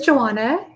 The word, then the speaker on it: Johanna: read just about everything my name is joanna it's a silent h and um i'm going